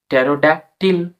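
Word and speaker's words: pterodactyl: ওয়াই L Tiwa হবে till পাবটি tick টেরোডাটিক টেরোডাকটিল ল পাব এখানে টারোডাক্টিল তো উচ্চারণটা পরে হবে টেরোডটিল পরবর্তী শব্দটা আমরা দেখি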